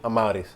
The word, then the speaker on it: Amauris: What's up everybody, Amauris here, and that's how you say my name, Amauris.